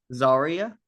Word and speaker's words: Zarya: Um Zarya.